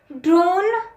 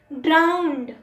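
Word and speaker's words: drown: Number 28, ड्रोन नहीं होता, ड्राउंड, ड्राउंड।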